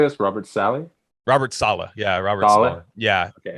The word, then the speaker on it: Saleh: Robert Saleh.